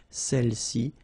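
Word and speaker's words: celles-ci: Alright, feminine plural, celle-ci, okay, don't pronounce the final S, celle-ci, celle-là.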